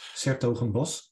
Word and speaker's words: 's-Hertogenbosch: The correct pronunciation is 's-Hertogenbosch.